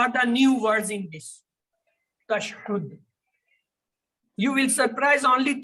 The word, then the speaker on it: tashahhud: Tashhud, the pronunciation is tashhud.